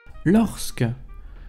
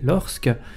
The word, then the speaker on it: lorsque: de « que », la prononciation du S serait tardive, puisqu'en 1632, Daniel Martin, dans sa Grammatica Gallica, page 42, d'après Thureau, écrivait encore « l'orque », à laquelle s'ajoutera dans la prononciation populaire un E de renforcement, lorsque, peut-être sous l'influence de parce que, et serait à mettre en relation avec celle de puisque et de jusque.